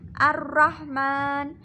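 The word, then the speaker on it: الرَّحْمَٰنِ الرَّحِيمِ: Selanjutnya pada ayat kedua terdapat hukum bacaan al-syamsiyah pada kalimat ar-rahmanirrahim. Ar-rahman. Terdapat hukum bacaan al-syamsiyah karena ada alif lam bertemu dengan huruf ro. Cara membacanya yaitu idgham masuk ke huruf ro. Ar-rahmanirrahim. Terdapat hukum bacaan mad arid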